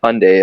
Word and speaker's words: Hyundai: campaign where it's like Hyundai it's like Sunday honestly but it was basically just like hey it's Hyundai like Sunday was the whole ad because